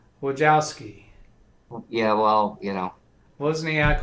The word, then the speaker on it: Wojcicki: Isn't it like Wozniak or something? Wojcicki.